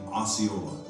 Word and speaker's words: Osceola: White men pronounced his name Osceola.